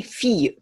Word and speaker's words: fille: 趣味入った l なんか使わずにフィーユ主に言うという風に発音をしていたとで